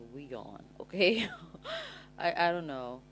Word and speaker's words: WION: feel like you know it should be y on it just sounds it's w i o n okay w i o n you know they pronounce it i mean it's their network and all but they pronounce it as we go on okay i i don't